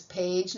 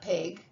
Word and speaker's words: page: So it says page, not peg.